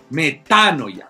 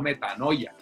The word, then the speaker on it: metanoia: manera ya una metanoia metanoia con acento en la que yo escuchaba alguna gente por ahí hasta sacerdotes diciendo metanoia no hablen bien que se